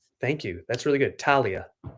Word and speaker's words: Talia: It's Talia with a silent H. Thank you. That's really good. Talia.